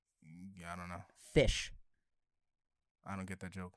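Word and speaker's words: ghoti: the actual words but it's spelled g-h-o-t-i but in english pronunciation it's pronounced fish of how the different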